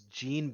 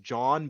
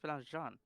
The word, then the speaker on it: Jean: no no but his his Discord name was Jean Bean the mean machine but it's pronounced John Bean the Mean Machine it's John John Bro French people